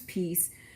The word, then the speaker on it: PESSCE: in what I call Peace p-e-s-s-c-e it actually is pronounced peace but spelled differently again p-e-s-s-c-e versus p-e-a-c-e